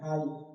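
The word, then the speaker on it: high: तो जी एच यहां क्या है? साइलेंट आता है। तो बोल क्या रहे हैं? हाई।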